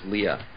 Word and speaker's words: Leia: where at some points they call her Princess Leia and sometimes they call her Princess Leah oh I never realize that mhm yeah and